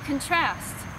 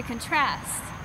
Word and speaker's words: contrast: such a good writer to contrast to contrast the emphasis is on the wrong syllable well that concludes our